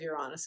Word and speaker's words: Uranus: and directly or the new moon will oppose Uranus is the exactly the correct way to say it.